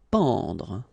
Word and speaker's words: pendre: Pendre. Okay, so nasal here, en, en. Pendre, pendre.